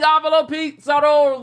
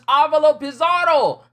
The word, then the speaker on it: Avalo Pizarro: So I've been saying it wrong all these years. I've been saying Avalo Pizarro wrong all these years. It's Avalo Pizarro.